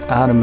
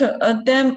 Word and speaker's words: Adam: and evil, whose fruit Adam and Eve were tempted to eat. Wow, yes, perfect. Okay, let's stop here to check out how to pronounce the male name. Adam or Adam. Adam.